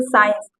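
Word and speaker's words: science: का कोई रोल नहीं है, यहाँ पर सी साइलेंट है। जैसे साइंस, यहाँ पर इसको साइंस पढ़ेंगे, देखिए यहाँ सी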